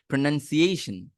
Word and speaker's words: pronunciation: করে বলছি প্রোনাউনসিয়েশন এইশন এইশন এই এই পার্টটা আপনাকে স্ট্রেস দিতে হয় বুঝতে পারছেন এবং এইটাই